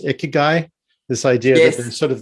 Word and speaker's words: ikigai: it's very related to the i think it's pronounced ikigai this idea that sort of this thing that